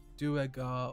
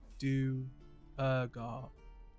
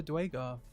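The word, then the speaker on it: duergar: secrets half revealed there are written pronunciations for dweger it's pronounced do ega or do ergo oh never dwaygar oh i suppose that's what i get for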